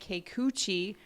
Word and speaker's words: Kikuchi: is boston going up against uh you say keikuchi for toronto now what do you like about